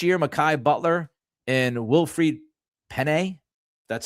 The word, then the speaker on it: Pene: Last year, Makai Butler and Wilfried Pene, that's how you pronounce his last name, they actually earned active roster deals.